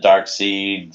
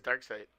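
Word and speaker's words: Darkseid: Some people pronounce it Dark Seed, some pronounce it Dark Side. Why would they? I mean, it's if you watch cartoons, it literally says Dark Side.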